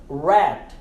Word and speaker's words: rat: na mente agora é rat, rat, R-A-T, de rato, rat, não é rat, é rat, rat, ok? Não pronunciamos o T quando a palavra termina com T.